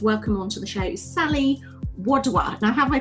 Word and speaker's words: Sally Wadhwa: really excited to welcome onto the show you Sully Woodward now have I pronounced your name correctly first means how perfectly